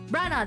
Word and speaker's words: Branagh: Branagh, there you go.